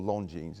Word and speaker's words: Longines: I heard one word, Longines, or Longines it's pronounced.